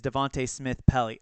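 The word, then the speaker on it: Devante Smith-Pelly: And Devontae is Devontae Smith-Pelly.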